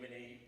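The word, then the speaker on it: Maher: And just a note, first off, my surname is spelled M-A-H-E-R, so when you do see the book, please make sure you look out for that, M-A-H-E-R.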